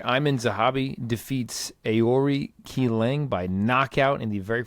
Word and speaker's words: Qileng: Aori Qileng, I believe. Qileng? Aori Qileng? That's right. Qileng? Qileng.